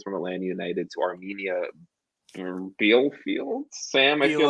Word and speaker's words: Bielefeld: So George Bello sold from Atlanta United to Armenia Bielefeld.